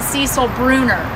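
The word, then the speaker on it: Cécile Brünner: We are going to be planting some heirloom roses on this trellis called Cecile. Some people pronounce it Cecil Bruner.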